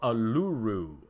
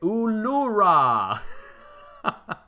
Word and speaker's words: Uluru: Now, we're far north of Uluru. Everybody always corrects me on how to say it. Ulura. Ayers freaking rock. I can't say it right.